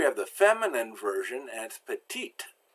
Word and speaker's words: petite: the feminine version and petite we know the e is silent but we pronounce the T now the T is